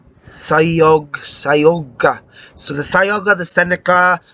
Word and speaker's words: Cayuga: It's not Cayuga, like an old-fashioned car, motor car horn. It's Cayug, is soft C. Unlike in Tolkien, which is C's are always this C is soft, like cellular, Sayoga.